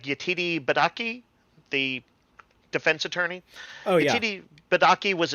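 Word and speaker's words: Yetide Badaki: Billy Martin here uh I think the name is pronounced like yatiri badaki the defense attorney badaki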